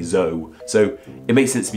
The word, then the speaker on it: Zoe: Z-O-E with a diuresis, and this makes sense that we don't say it in the same way we say the name Joe or Toe, it's Zoe, we don't just say Zoe.